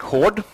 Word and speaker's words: Haard: loud yeah yeah um my name is hord which is not that hard to pronounce is it uh